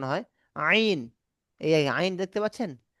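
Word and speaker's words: عين: হ্যাঁ এখান থেকে আরেকটা অক্ষর উচ্চারণ হয় গলার ভিতর থেকে, মানে গলার শেষ ভাগ থেকে আরেকটা উচ্চারণ হয়, আইন। এই আইন দেখতে পাচ্ছেন, আইন আইন, আইন আইন, আইন আইন, আইন আইন।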